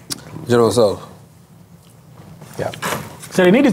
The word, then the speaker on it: General Tso's: The T is silent. General Tso's.